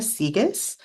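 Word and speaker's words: Sieges: e GES and then this is how you pronounce it c as in the ocean and Gus like that little mouse from um Cinderella so I'm glad that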